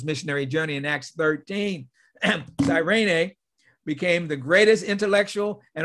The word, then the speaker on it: Cyrene: Lucius of Cyrene, or some say Cyrene. So it's pronounced both ways, but we'll say Cyrene.